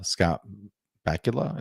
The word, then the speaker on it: Scott Bakula: of people don't like enterprise uh with uh scott bakula is how you pronounce his name um but i love it